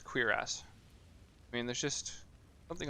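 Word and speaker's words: cuirass: I do find it a little bit funny that that's pronounced queer ass.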